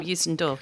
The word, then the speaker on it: Youssou N'Dour: And Shaking the Tree was initially a lyrical idea by Youssou N'Dour, which I can't really pronounce. Yeah, How did I do with that? You did a good job, Youssou N'Dour, yeah.